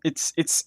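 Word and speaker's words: い: Or it's I in English, but in Japanese it's pronounced I.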